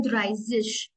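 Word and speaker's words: dreißig: इन 30 को हम प्रोनाउंस करते हैं ड्राइजिश।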